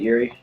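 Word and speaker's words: Jiří: i'm going to go yuri that's how you pronounce it yuri yeah i'm going to go and he looked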